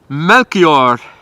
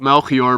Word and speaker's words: Melchior: it's uh so we we have the name here in the Netherlands as well but when you say it uh in French it's probably melchior or melchior well I'm a French man